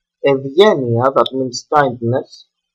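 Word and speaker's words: Ευγενία: So, Vita, Gamma as well, Evgenia, no, Evgenia is a name. Evgenia, that means kindness, we have Ev and Gamma, that is why we pronounce this Ev, Evgenia.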